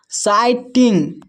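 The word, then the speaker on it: sighting: जहां भी आपको जी एच एक साथ दिखे तो जी एच साइलेंट रहता है।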